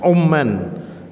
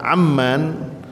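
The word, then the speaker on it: عمان: Umman huruf ainnya dengan dhammah. Umman berarti negara Oman. Tetapi kalau kita membacanya dengan fathah, Amman itu yang dimaksud adalah ibu kotanya Yordania.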